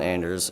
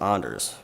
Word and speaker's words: Anders: take away first Anders why did my parents decide on Anders and why isn't it pronounced onder's my ancestry is Norwegian